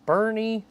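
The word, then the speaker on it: Boerne: And then I'll type it into Google Maps and it's like Bernie. I'm like, "Oh, that's right. I forgot it's pronounced that way."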